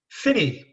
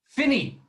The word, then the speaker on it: Phinney: this episode thank you daniel i forgot the pronunciation of your surname right finney finney finney the original spelling f i n n